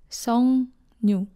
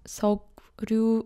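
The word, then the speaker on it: 석류: It's pronounced as Songnyu, not Seokryu or Songryu.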